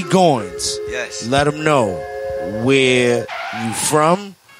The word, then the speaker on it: Goynz: Goins. Yes. Let them know where you from and what is your history right quick. My name is period period. Goins.